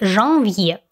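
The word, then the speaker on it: janvier: он следом идет январь или жанвье также есть носовой звук в этом слове но уже в первом слоге следом идет февраль или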